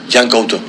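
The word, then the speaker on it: Yan Couto: Jan Couto. Yeah. No, you pronounce really good.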